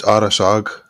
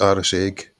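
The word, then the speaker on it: Arisaig: It's pronounced Arasag, but it looks Arras Egg.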